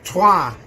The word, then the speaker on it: Troyes: That was Troyes, or Trois if you speak French. When I first got that back, I was like, he said it right. Oh no, he's doing the actual accent. There we go. Dylan Ryan's got it right. Well done. Trois is French. We have to say it French.